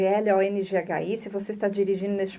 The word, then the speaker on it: Longhi: Lembrando que o Long se escreve L-O-N-G-H-I.